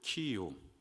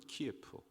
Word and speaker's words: 키이우: 그리고 키이우, 소련식 발음으로는 키예프, 우크라이나의 그 수도이죠.